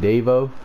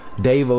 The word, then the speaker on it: Davo: Davo is spelled like Quavo, only without the U and without the Q. It's D-A-V-O.